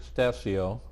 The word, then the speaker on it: Stasio: Stassi oh did I pronounce that rash correct that's correct whoo I have a lot of respect for mr.